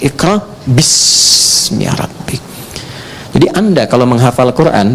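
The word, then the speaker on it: اقرأ باسم ربك: Itulah sebabnya ketika walaupun di sini ada alifnya, tetap dibacanya cepat dan pendek. Iqra bismi rabbik.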